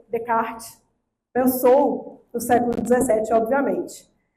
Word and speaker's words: Descartes: que até hoje eu tenho dificuldade com a pronúncia. Bruno, me ajuda. É Descartes? Como é que é? Descartes.